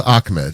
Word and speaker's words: Ahmed: Well, it's pronounced Ahmed. You don't have to.